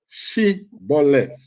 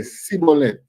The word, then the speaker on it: Shibboleth: All right, say Shibboleth. Say the word Shibboleth. No, because they know that the Ephraimites them can't pronounce the word right. They say Sibboleth.